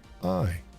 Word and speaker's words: Wojcicki: Anyway, how's your spelling and pronunciation skills? Go ahead. It's Wojcicki.